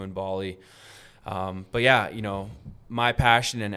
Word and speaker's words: Bali: Bali.